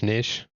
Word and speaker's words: niche: How do you actually pronounce it? Is it nish or is it nish? I don't know. It's not a word you hear a lot, I guess. It's niche.